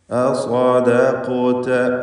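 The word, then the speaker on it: أصدقت: അസ്വദഖത അസ്വദഖത അസ്വദഖത. അപ്പോൾ സ്വാദിന് തഫ്ഖീം, എന്നാൽ ശേഷം വരുന്ന ദാലിന് തഫ്ഖീം പാടില്ല. ശേഷം ഖാഫിന് തഫ്ഖീം, ശേഷം താ.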